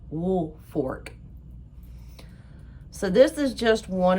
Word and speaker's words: Woolfolk: their name is spelled like Woolfolk, but it's pronounced Woolfolk.